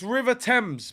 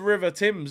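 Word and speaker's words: Thames: Arsenal uh e Ross it's River temps but it ain't spelled like that I think it's t h a m s River man said River Tims not Timberland boots bro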